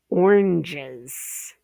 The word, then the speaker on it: oranges: Oranges. Oranges. We're looking for the Z. Okay. It's spelled with an S, but it sounds like a Z.